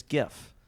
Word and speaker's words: GIF: Why do I say that with a J? But it's definitely a G. Like it's GIF.